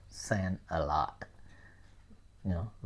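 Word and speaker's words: Sen: you it's Lotus right there's another one too sand okay so in some in some area they Nam their daughter sand okay S N Sand I don't know if it's official but you know they call Sand a lot you know a lot of girls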